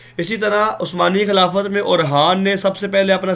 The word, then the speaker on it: اورحان: اورحان آپ جس طرح اور لکھتے ہیں نا، اور سناؤ کیا حال ہے، اور لکھ کر آگے خان لکھ دیں. جزاک اللہ سر. اچھا، اورحان کی ایک اہم بات تھی اور وہ رہ گئی ہے.